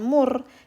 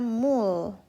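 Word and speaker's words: 물: teman-teman ya contoh nah ini dibacanya bukan Mur tapi dibaca ya Mul Mul itu air contoh lain kita menyebutnya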